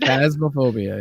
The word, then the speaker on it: Phasmophobia: So it's a horror game, Phasmophobia. Yep. I keep saying Fantasia in my head. Phasmophobia.